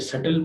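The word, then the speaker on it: subtle: को नहीं पढ़ेंगे, सॉफन में टी को नहीं पढ़ेंगे, ये सटल पढ़ेंगे, इसमें बी जो है वो नहीं आएगी।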